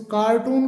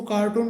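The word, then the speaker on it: carton: इसको कार्टून कहा जाता है जो गत्ते गत्ता होता है सामान का जो कवर आता है उसको कार्टून बोलते हैं। लेकिन इसका सही जो प्रोनाउंसिएशन होता है वो कार्टन कार्टन करके होता है।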